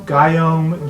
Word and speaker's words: Guillaume: but he's the chef his name is Guillaume guyom g-y-o-m-e people pronounce it differently subject from one requested